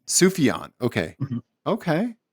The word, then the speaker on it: Sufjan: How do you pronounce his name again? His first name? Sufjan. Sufjan.